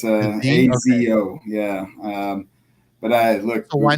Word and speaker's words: Asio: It's with a Z. So it's ASIO.